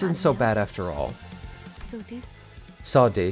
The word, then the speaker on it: Saudi: Saudi, that's how you say it, Saudi.